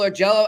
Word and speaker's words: Augello: ask our man for Buffalo hockey now Michael or Jello I don't know if I'm pronouncing your name right no you got it